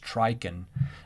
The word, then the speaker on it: Trychin: it's spelled like this but his name is pronounced trichen so sam trichen i think it was 2001 has you know reasons why people don't get hearing aids and it's really not data based but trichin is a psychologist like harvey and it's sort